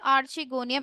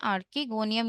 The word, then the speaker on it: archegonium: तो यहाँ पर जो हमारा की कॉन्सेप्ट यूज हो रहा है दैट इज आर्चिगोनियम इटसेल्फ। हमें समझना होगा सबसे पहले कि आर्चिगोनियम होता क्या है, किसे हम कहते हैं आर्किगोनियम या आर्चिगोनियम।